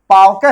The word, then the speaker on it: पावक: है अव है देखिए पव आप कहिए पव पवन कहिए पव अव पवन कहने में केवल अव का उच्चारण हो रहा है। मुंह से निकल रहा है अव। लेकिन जरा पावक करिए। पावक है। ठीक है? तो पाव यहां क्या निकल रहा है? औ नहीं बल्कि आव निकल रहा है।